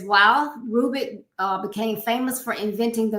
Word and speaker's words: Rubik: But I know Rubik is right. Yeah. The Rubik's Cube. Yes, and he was a Hungarian architect and inventor. And it says, while Rubik became famous for inventing